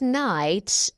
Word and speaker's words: knight: Many gallant knights entered the contest to win the princess. Don't forget that the word knight here k is not pronounced. It's a silent one.